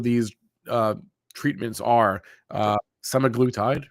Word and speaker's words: semaglutide: drug inside of these uh treatments are uh semaglutide right that's how you say it so hims